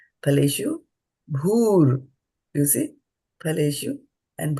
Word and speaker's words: फलेषु: Phaleṣu. Phaleṣu. The soft U. Yeah, I pronounce it a little harder, but phaleṣu. So there's a soft U over here, phaleṣu, and there is a hard U over here.